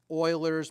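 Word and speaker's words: Euler: And this is called Oilers's method. Okay. Some people call it forward oiler. There are a few names for it. Okay. It's spelled Uler, but cool people call it Oiler.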